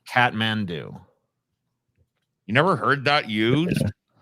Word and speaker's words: Kathmandu: spelled look at it I know but it's pronounced Catman do catm do you never heard that used I don't think